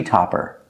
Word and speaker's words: topper: Like top, use the sound ah, like stop, and hot.